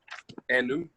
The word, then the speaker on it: enum: Medi infie adwasa enum. Okay, Medi infie eduasa enum. Now Joshua, the last bit, enum, which is 5, there is the letter M sound at the end.